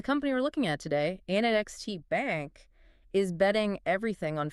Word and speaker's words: ANEXT: And our mission today is to figure out how NXT, which is pronounced A Next, by the way, how they're actually managing to